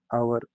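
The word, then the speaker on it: hour: और ठीक है, आवर, MBA, MLA, आवर में एच साइलेंट है और वावल साउंड निकलती है इसमें, इसके एन का हम यूज करते हैं.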